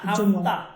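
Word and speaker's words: ہفتہ: ইতোয়ার পীর মঙ্গল এটা হাফে না হাফতা উচ্চারণটা হাফতা ইতোয়ার পীর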